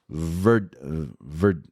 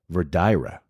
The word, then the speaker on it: Verdigre: Verdigra? Or is it Verdira? It's Verdigre, and it's in Nebraska.